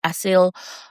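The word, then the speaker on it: acyl: One of the most common class of the signaling molecules is ail asil. I'm that's how I'm going to pronounce it.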